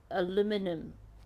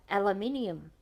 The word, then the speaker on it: aluminium: looking at different pronunciations I have to say it took me an eternity to figure out what the heck alumin aluminum is that how they say it aluminum was can't even pronounce it the way they do it took me years and years to figure out they were talking about aluminium because it sounded so different to me and I had